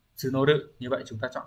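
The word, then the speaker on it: 募る: Bởi vì bây giờ chúng tôi đang, chữ Hán là chữ mộ, từ này sẽ đọc là tsunoru.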